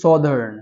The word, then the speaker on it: southern: Please try to pronounce it correctly. This one is southern.